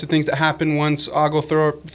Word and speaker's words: Oglethorpe: colonies, the types of things that happen once Oglethorpe. How am I saying it wrong? Oglethorpe, yeah.